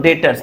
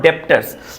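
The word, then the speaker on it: debtors: तो यहां पर डेटर्स इसको बोलेंगे। इसको क्या बोलेंगे हम लोग? डेटर्स नॉट डेप्टर्स।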